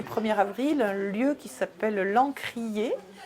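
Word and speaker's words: L'Ancr'ier: lieu qui s'appelle l'encrier alors l'encrier ça s'appelle ça s'écrit pardon à ncr apostrophe y est c'est à la fois le mélange de lancre marine et c'est à dire de l'ancrage peut-être le territoire et enfin voilà et puis de lancre des livres parce que c'est un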